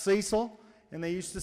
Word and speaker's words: Cecil: is from Tennessee hence the name Cecil it's pronounced Cecil and they used to say y'all be doing